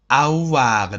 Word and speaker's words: avoir: And now another important verb which is called avoir. Avoir. The pronunciation is avoir.